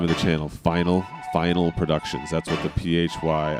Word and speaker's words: Phynal: Final final productions. That's what the phy I don't know some people 3D rundown Greg pronounced it finel I don't know where you get that I mean phone right